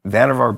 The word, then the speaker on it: Vannevar: It's, I always mispronounce his name. It's Vannevar Bush.